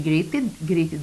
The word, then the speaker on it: greeted: Here, she greeted, the final ed here is pronounced as id. Roasted, of course, we pronounce it id also.